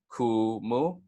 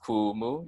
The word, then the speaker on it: kumu: teacher professor and then Kumu has no fancy tacos or okie nuts either so it's just gonna be cool Moo and then once more that's cool move you guys can repeat